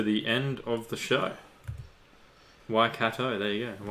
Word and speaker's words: Waikato: Waikato. There you go. Waikato.